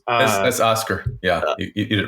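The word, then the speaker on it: Oskar: Sorry for pronunciations. That's Oscar.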